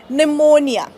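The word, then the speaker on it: pneumonia: sudo okay रू number two जेव्हा पी आणि एन एकत्र येतात तेव्हा सुद्धा पी सायलेंट असतो ओके लाईक निमोनिया आजार आहे तुम्हाला माहिती आहे ऑलराईट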